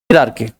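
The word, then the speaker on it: hierarchy: Guarantee हिरार्की HIE होता है बच्चे, हिरार्की, और उसको पढ़ते क्या है, हिरार्की, हायरार्की, हायरार्की, occurrences, occurrences.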